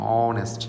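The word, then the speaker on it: honest: আচ্ছা, এখানে আরও দেখি অনেস্ট ম্যান, এর উচ্চারণ কিন্তু এইচের উচ্চারণ সাইলেন্ট থাকবে এখানে, অনেস্ট, সরি ও দিয়া।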